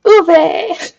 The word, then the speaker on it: ube: you're apparently pronouncing it right though. Woo! Ube!